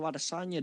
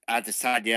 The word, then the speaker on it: Adesanya: that I feel like Bisping may be landing a slightly better array of strikes in comparison to Adesanya, Doctor Who.